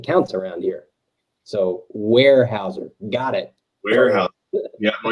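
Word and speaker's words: Weyerhaeuser: you're not kidding there zach uh apparently apparently pronunciation counts around here so warehouser got it warehouse yeah well you know i've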